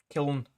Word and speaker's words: Kiln: Kiln. Kiln, yeah. Is that how you pronounce it?